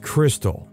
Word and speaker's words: Krxstxl: Confused, the name is pronounced Crystal.